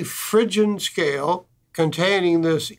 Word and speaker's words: Phrygian: as the Phrygian scale, a strange spelling, I suppose, P-H-R-Y-G-I-A-N, pronounced Phrygian.